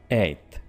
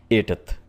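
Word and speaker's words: eighth: आपने इसको सिंपल सा बोलना है एथ। अब आपको चीख कर बोलने की जरूरत नहीं है कि मैंने टी एच भी यहां पर प्रोनाउंस कर दिया है। Like एटथ राइट?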